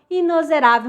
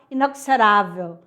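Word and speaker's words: inexorável: Igual a palavra inozerável. Muita gente fala inoxerável, mas, ó, já pegue a dica aí, ó.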